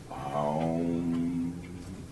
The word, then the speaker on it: Aum: When pronounced correctly, it is actually Aum. Aum is four syllables. This I learned. A, U, M, and the silent syllable.